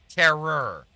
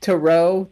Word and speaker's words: tarot: entitled demon terror because apparently that's how she pronounces i don't know anyone in my life that pronounces tarot terror i don't know how you that up i don't know how you that up but tarot tarot territe even i'm good with